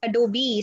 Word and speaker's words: Adobe: It's not Adobe. It is Adobe.